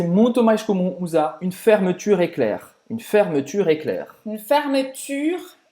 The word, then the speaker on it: fermeture éclair: mais comum usar une fermeture éclair. Une fermeture éclair. Une fermeture éclair. Então presta atenção na pronúncia do U, né? A gente sempre fala que faz a boca do U e fala I.